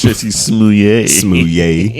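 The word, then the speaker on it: Jussie Smollett: Jesse Smouillet. Or whatever how you say that man name. No, you said it right. Oh, I did? I'm saying how okay. Dave Chappelle said it. It's Jesse Smouillet.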